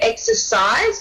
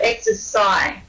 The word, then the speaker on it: exercise: we're not pronouncing it exercise but exercise so just be careful to pronounce the s in there so really it was